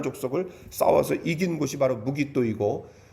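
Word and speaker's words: 므깃도: 그래서 이 학자들이 이것을 어떻게 이제 읽냐면은 마겟돈을 무깃도라고 읽습니다.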